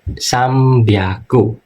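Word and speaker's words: 三百: Nah, di sini ini enggak semuanya, tapi rata-rata kalau di cara baca kita ada huruf N ketemu sama B ini kan N ya, sang sang kan N atau ngetama ketemu huruf B seringnya dibaca M. Jadi sambiago enggak semuanya, tapi ada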